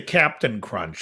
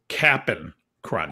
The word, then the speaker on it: Cap'n Crunch: made your number three i didn't say captain crunch i said the correct pronunciation of the cereal which is cap'n crunch yeah why why